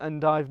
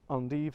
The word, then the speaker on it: endive: on the side again i'm going to pronounce this endive now but i know some some of you pronounce it andi some of you pronounce endive so just bear with me so endive charred lettuce